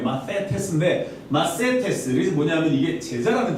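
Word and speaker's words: μαθητής: 예, 원래 이 TH 발음이에요. 마세테스인데 마세테스.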